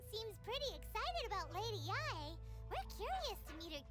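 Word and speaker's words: Yae: After all, everyone seems pretty excited about Lady Yai. We're curious to meet her too. I keep reading this as yay. The fact that it's pronounced yai keeps throwing me off.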